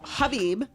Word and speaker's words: Khabib: But so silent the K is silent. Silent K. That's it. Okay, so Khabib. You want to see that rematch, Khabib and Yes, I do want to see the rematch with Khabib.